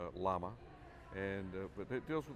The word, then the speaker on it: LAMA: Dan's the president of the Light Aircraft Manufacturers Association, or LAMA, pronounced LAMA.